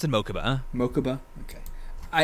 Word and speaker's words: Mokuba: i assume so yeah okay yeah like they pronounced in mokuba mokuba okay i it's gonna be hard for me to not say makuba but yeah also because i like the way